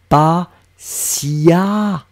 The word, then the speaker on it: patiemment: On écrit E-M-M-E-N-T, mais on prononce comme si c'était un A. Patiemment. Donc vous voyez bien qu'on écrit sur votre écran T-I-E-M-M-E-N-T, mais je vais le prononcer patiemment.